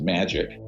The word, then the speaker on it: Majic: the majority intelligence committee Majic is pronounced magic ironically uh or not